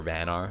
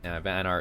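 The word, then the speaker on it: Vanar: magmar and Bernard or van are I guess is how it's pronounced van R is the most recently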